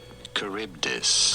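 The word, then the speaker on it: Charybdis: as well but how do you go about pronouncing these two Sila and caribdis caribdis so I was close okay are we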